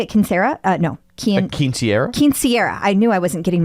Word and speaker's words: quinceañera: Quinceañera. I knew I wasn't getting my syllables correct.